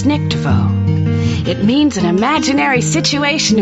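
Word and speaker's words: Weissnichtwo: w-e-i-s-s n-i-c-h-t-w-o yup as a german word is pronounced this nictevo it means an imaginary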